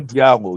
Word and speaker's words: Diallo: Jalo Diallo. Yeah, that's how they pronounced it.